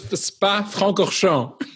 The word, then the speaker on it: Spa-Francorchamps: And that's a picture of him in his Eagle that won the Belgian Grand Prix at Spa, help me pronounce it, Spa-Francorchamps. It's close. Spa-Francorchamps.